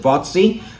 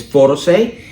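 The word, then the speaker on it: Fotasy: Okay, some people pronounce it Photosay, some people pronounce it Fotsy, all right, but I think it's Photosay, all right, so that was $22.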